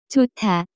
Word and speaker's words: 좋다: To be good, the pronunciation of this word is closer to 좋다.